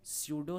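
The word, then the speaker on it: pseudo: ठीक है, इसीलिए इसको हम लोग क्या बोलते हैं, स्यूडो solid, P silent, स्यूडो solid.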